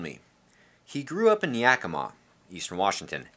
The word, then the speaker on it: Yakima: he grew up in yakima eastern washington it is not pronounced yakima just for you non-washingtonians and he said he